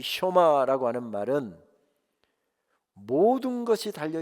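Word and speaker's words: שְׁמַע: 쇼마 이시로에, 이스라엘아 들으라. 흔히 쉐마라고 우리가 하는 이 원어의 본래 발음은 쇼마이지요.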